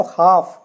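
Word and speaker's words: half: पहले तेल आता है यहां देखिए एफ से पहले ल आया तो हाफ हाफ मेंस आधा इसी तरीके से आप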